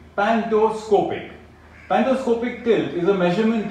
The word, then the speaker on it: pantoscopic: of an object differ in size it is pronounced as an iciconia word number three pantoscopic pantoscopic pendoscopic tilt is a measurement taken that analyzes